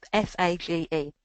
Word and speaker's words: FAGE: But there is one yogurt called FATS, which I get told off from pronouncing incorrectly, that's got protein and it's full of good bacteria as well. So it's FAGE.